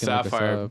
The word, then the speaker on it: TSAFFIRE: Yeah, just Sapphire. Go find music, Sapphire, guys. T is silent.